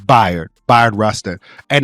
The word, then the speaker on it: Bayard: It's spelled like bae, like like the bae, but it's Bired.